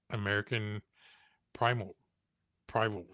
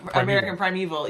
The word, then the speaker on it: American Primeval: Um, how was it working on American Primal Prival? I can't pronounce it right. Oh, yeah. American Primeval.